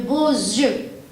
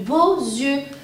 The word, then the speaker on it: beaux yeux: liaison, elle a de beaux yeux. Vous avez remarqué, j'ai mis la liaison et j'ai prononcé un yeux. Car le X, quand je le mets en liaison, il se prononce comme un Z.